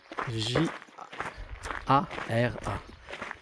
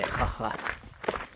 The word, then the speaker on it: Jara: El Real de la Jara. Jara. Je vais la prononcer parce que c'est un J A R A. Et le J, c'est R. Et le R, c'est R. Et Jara. Et non, Jara.